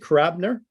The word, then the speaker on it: Karabiner: Is that how you pronounce it, Karabiner? It's actually Karabiner. If to speak in Russian, it's like Karabiner. Okay. The accent is on I.